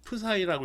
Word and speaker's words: psi: 기호로는 이렇게 파이를 안 쓰고 psi라고 읽어요.